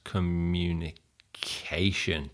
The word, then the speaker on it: communication: Five syllables. Which one stress communication? That one. So practice that with the correct word stress.